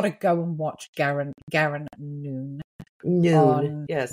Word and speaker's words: Noon: go and watch Garen Noon. Noon. Spelled like no one if you're American and you don't speak Irish.